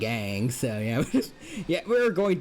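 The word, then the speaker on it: Aang: Their name is you could pronounce it like Ang.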